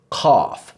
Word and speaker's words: ق: Cough. So this is like the English word cough, but touch the back of your tongue to the roof of your mouth as you say it.